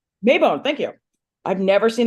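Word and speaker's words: Maybonne: is I don't I don't know how to pronounce her name mayone mayone thank you I've never seen that name outside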